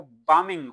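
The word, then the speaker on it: bombing: जहाज जो गिराता है वो बामिंग होता है। बांगिंग बम नहीं वर्ब इसमें नाउन बाम है। बी साइलेंट है यहां पे।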